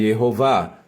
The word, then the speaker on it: Yehová: Portanto, o nome de Deus deve ser pronunciado Yehová.